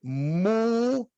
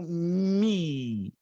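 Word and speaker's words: μ: forte obrigado obrigado então essa letra que a gente tem o som como de um M em mamãe ela tem duas pronúncias anotou pode ser mu ou mi é o que eu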